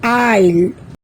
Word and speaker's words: aisle: let's find out some other words where S is silent আহাচোন আমি এতিয়া Sৰ উচ্চাৰণ কতনো উজ্জ হৈ আছে চাও island debris aisle এই শব্দকেইটাত আমি দেখিলো যে Sৰ উচ্চাৰণ উজ্জ